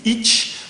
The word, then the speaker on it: ichi: Par exemple, je dis ich, alors qu'il y a souvent marqué ichi, mais c'est une manière de prononcer et d'accentuer un peu plus certaines voyelles que d'autres.